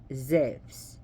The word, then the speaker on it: Zeus: and Zeus was actually zephs that's how you pronounce zebs because you is actually supposed to pronounced supposed to be a v so take the U out put a v that's how you say